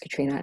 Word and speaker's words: Catriona: So my it's spelled Catriona, Katrina. It's pronounced Katrina, and then